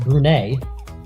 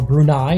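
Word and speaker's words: Brunei: Kazakhstan and now Afghanistan against brune or brunai depending on how you want to pronounce it but here on Marvel Cubo we're going to pronounce it brune they're in the yellow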